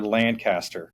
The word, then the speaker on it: Lancaster: right Lancaster New Hampshire is it Lancaster or Lancaster it's Lancaster okay great so because we have a Lancaster